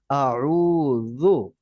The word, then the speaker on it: أعوذ: প্রথমটা হামজা, পরেরটা আইন, রুটা লম্বা হবে, যু নরম। আউযু।